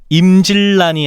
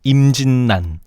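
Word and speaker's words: 임진란: 임질란이 아니고 임진난 생살양이 아니고 생산량.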